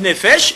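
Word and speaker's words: נפש: Mais en hé- en hébreu au singulier on dit nefesh et au pluriel on dit nefashot.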